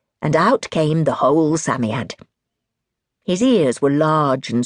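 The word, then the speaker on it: Psammead: He or it was called a Samiad. You pronounced it Sami Aad.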